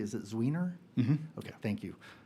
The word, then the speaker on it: Zwiener: Representative, I want to say it correctly, is it Zwiener?